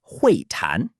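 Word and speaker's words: 会谈: Next, we have huìtán, pronounced huìtán.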